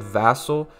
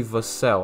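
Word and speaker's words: Vassell: throughout that entire video I said vassal for his last name it's actually the cell I don't know how I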